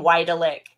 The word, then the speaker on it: Wydelick: So you pronounce his last name Wydelick.